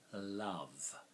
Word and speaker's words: love: a problem for someone love well we would spell love V with silent e v v three letters so three sounds four letters silent E makes the fourth so see the tongue